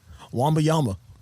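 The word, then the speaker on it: Wembanyama: name again yeah yeah you say it wamba Yama I only think that's the right way to say it it's like Womble it's like it's almost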